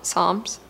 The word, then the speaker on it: psalms: muttering the word again psalms psalm psalms psalms psalms it's not the si the p is silent i know that much